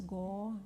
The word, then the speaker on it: Gauranga: Exhale, say it out loud, and it's said in 4 syllables: Gauranga.